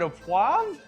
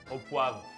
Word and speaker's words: au poivre: So Martin, is it au poivre? Au poivre.